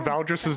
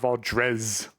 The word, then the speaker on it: Valdris: many times I spelled Valdris's name wrong when I first got here? I put an E towards the end so many times, and I never got over that. It's Valdris, not Valdrez.